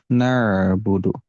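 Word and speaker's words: نعبد: tidak ada yang dijeda seperti seperti Ain ini nabudu jadi ketika membaca ainnya nanti dialirkan suaranya nabudu nabudu seperti itu iyaka nabudu begituun di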